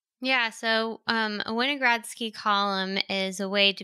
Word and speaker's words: Winogradsky: going to pronounce properly is it weiner gradski oh yeah winogradski yeah can you explain